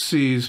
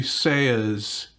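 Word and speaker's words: SEAS: this is a i think of it as c's but it's supposed to be say is that's how you pronounce it and it's a ca 21 rex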